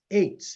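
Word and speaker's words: עץ: It is the Hebrew word H6086, which is pronounced eitz.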